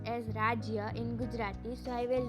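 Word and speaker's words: રાજ્ય: Now if I want to write the word state in Gujarati, the word is pronounced as Rajya in Gujarati, so I will write that also.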